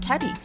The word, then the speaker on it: KATE: Is it Kate or is it Catty? I think it's Kate, yes.